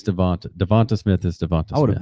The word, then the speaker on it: DeVonta: Is it Devontae Smith? I could have swore it was Devonta Smith. It's Devonta Smith. Yeah, someone was like, it's Devontae. It's Devonta.